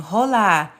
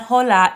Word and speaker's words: hola: Like they didn't know that you don't pronounce the H. The H in Spanish does not make a sound. You can think of it as there for decoration.